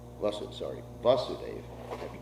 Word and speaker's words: Vasudeva: the andaka dynasty so you actually see the vasudevan devaki came from the same dynasty the under